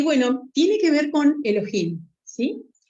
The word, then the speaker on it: Elohim: sabemos que la palabra Elohim es una palabra hebrea sí que es una combinación del sustantivo singular Elo con terminación H que se pronuncia J agregado agregando el sufijo